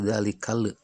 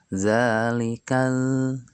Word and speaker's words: ذٰلِكَ: Akan tetapi ketika membaca dalikal lam sukun tidak boleh memantulkan atau dipantulkan dalikal. Jadi tidak boleh dalalikal akan tetapi dalikal ya.